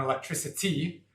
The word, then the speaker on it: electricity: you build the noun electricity, there where the C is pronounced an S, or electrician, where the C is pronounced as a sh.